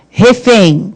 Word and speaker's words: refém: Refém. Qual é a sílaba tônica de refém? O refém. É o fém.